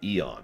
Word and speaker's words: Ion: One of the ways that they did that, it is spelled I-O-N, but they have pronounced it Eon.